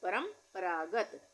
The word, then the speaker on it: परंपरागत: परंपरागत, यहाँ पर भी परंपरागत, आधे म का उच्चारण आ रहा है, इसको